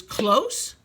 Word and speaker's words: close: Remember, the E is silent. The E does not make any sound but gives its vowel power to the O. Super O says its name.